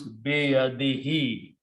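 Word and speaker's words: بيده: Now in the tajweed, in the recitation, to make easy on the tongue, we pronounce this dhamma as a kasra. Grammar does not change, recitation changes only. So it becomes biyadihi, in his hand.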